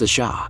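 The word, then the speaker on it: Ш: And the name of the player is the symbol after the question mark is a cerillic letter pronounced a sha.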